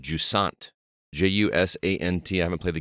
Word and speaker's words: Jusant: it is actually pronounced Jusant. And Jusant. Jusant. Yeah, like the S sound and measure, and just Jusant. and then essentially Jusant. take the T off at the end.